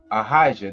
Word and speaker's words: Ahijah: It will be pronounced what? Ahijah.